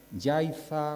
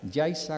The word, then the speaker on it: Yaiza: los acabo de pronunciar, con Z, llegamos a pensar que esa es su verdadera naturaleza, pero no es así. Debajo de esa falsa grafía existe eso que los lingüistas llamamos un fenómeno de ultracorrección, consistente en este caso en creer que la pronunciación canaria Yaiza, Guatiza, Órzola, Sonsamas no es sino efecto del seseo dialectal canario.